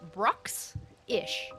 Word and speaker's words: Bruxish: How do you even pronounce it? Bruxish.